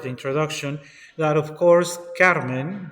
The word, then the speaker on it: Carmen: I also wanted to mention as part of the introduction that, of course, Carmen, that I am pronouncing as Carmen, in fact should be Carmen because it is in French.